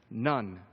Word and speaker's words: ن: This is the Arabic letter for in, and it's pronounced none.